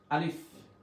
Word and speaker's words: ا: আলিফ আলিফ আলিফ আপনারা আমার সাথে সাথে বারবার উচ্চারণ করতে থাকুন। আলিফ আলিফ আলিফ উচ্চারণ করতে সামনে ঠোট থেকে অবশ্যই বাতাস বের হবে।